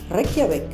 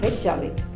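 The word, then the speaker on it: Reykjavík: In Icelandic, you don't pronounce the letters as they are. For example, J is pronounced as Y. So it's Reykjavik, it's not Reykjavik.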